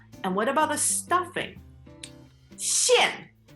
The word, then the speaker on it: 馅: 馅 Like a karate chop.